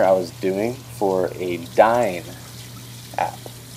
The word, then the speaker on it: DYNE: actually a dinner I was doing for a dine app it's actually a new app here in